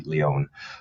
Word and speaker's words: Lion: LinkedIn, look up, and the last name is spelt like lion, Lion, but it's actually Leon.